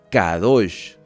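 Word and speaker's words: קדוש: hará maravillas entre vosotros la palabra santo en hebreo se pronuncia cada dos santificados santificados porque mañana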